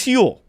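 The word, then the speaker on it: Huel: hugely with that is hule that's want to talk to about hu hule it's spelled hu L like fuel but with an H uh it's a complete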